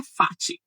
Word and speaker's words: fati: É fat com a força no fá, amor fat no latim fat a tonicidade cai na primeira sílaba.